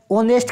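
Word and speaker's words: honest: ऑनेस्ट के साथ में क्या आता है मेरे शेर, ये आता है आपके एन, क्योंकि एच है वो साइलेंट रहता है।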